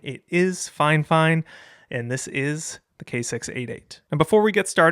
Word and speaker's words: Fifine: And yes, before we get going, I confirmed with FineFine that that is how you pronounce the brand name. It is not Fine. It is not Fifine. It is FineFine.